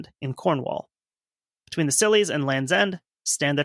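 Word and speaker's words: Scilly: I do want to say that the Scillies, and even though it's spelled totally different, is a silly name for some islands.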